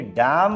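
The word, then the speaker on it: damn: और देखिए डैम word में एन का यूज़ ही नहीं करते हैं।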